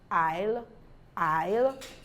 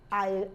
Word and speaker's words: isle: more rules a says it's not pronounced before L this is Island Isle Isle Alex all right so once you have the the I it's not L before it to say s is not pronounced before L islets and Island so that is it you don't pronounce the S then we have silent